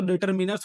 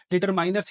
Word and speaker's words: determiners: देखो बेसिकली इसका प्रोनाउंसिएशन तो डिटरमिनर्स होना चाहिए, बट अब जनरली देखो कि बहुत लोग डिटरमाइनर्स ही यूज कर लेते हैं।